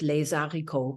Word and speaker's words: les haricots: And it's the title, or anyway, it's a line in the song, is something like les haricots, pronounced Zydeco, Yep.